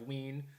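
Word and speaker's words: Wiene: We have Ween, which we pronounced correctly.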